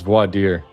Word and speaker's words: voir dire: I don't even know how to pronounce that. Voir dire. Dire. Clown Voir, world. it's voir dire.